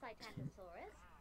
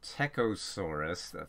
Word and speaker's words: Psittacosaurus: Some other ornithopod cousins were Cytantosaurus, who had a toothless... Actually pronounced Psittacosaurus.